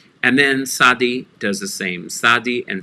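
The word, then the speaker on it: tsadi: same sadi and sadi it's a very noisy s it's usually transliterated t z or t s you don't really pronounce the t you start putting your ellipse together like you're going to pronounce a t but then you go into a noisy s sounds it's the sound of mitzvah and the sound of in english putting on mitts onto your hands gloves on your hands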